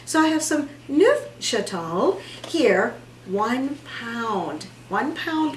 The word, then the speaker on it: Neufchâtel: lower fat cream cheese nu chateau yes that's how you say it chateau french i am not i had to actually listen to it a long time ago to make sure and before we did this i listened again to make sure i was still saying it correctly so i have some